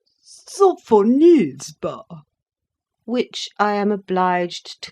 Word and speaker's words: Sophonisba: lips, and said again, with an aggravating accent on the third syllable, "Sophonisba."